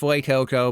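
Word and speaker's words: Fuecoco: do here so we go get fuy Coco and yes I know it's F Coco but that's boring okay it's not like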